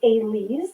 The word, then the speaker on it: Elyse: Like I said, my name is Elise, not like you spell it, that's how you say it.